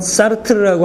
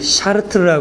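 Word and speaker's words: Sartre: 사르트르는 일단 시작해 보면 일단 사르트르 한국말로 발음해요 많은 분들이 샤트라 하는데 그렇게 발음되지 않고요 일단 불어 발음은이 사람 이름이 이렇게 돼 있기 때문에 저도 뭐 그 발람이 그렇게 좋지 않은데 뭐 그래도 불문과 나오고 프랑스에서 9년 유학하고 해서 대충 들으면 볼사 이렇게 돼요 근데 어차피 한국말로 프랑스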